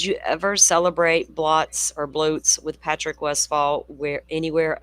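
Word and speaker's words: blót: I keep saying blotss. Bloat. How do you spell that? It's spelled like bl O T, but it's a Norse term, so it's pronounced bloat.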